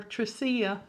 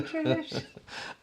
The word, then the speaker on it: Trish: Every time you say my name, I think how proud I am of y'all remembering back when we used to call her Tracia. Sorry, Trish.